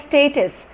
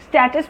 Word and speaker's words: status: conozco manga KTM status yes status status we bought for me you square data he belongs to a higher status group income group his status in life has improved so his physical status his mental status so say it anyway it is right both ways alright and this is